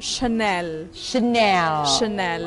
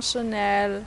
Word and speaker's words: Chanel: Terus yang apa namanya biasa orang panggil Chanel itu Chanel.